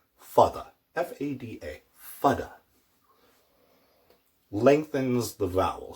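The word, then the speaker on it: fada: That's called a fudda. Fudda.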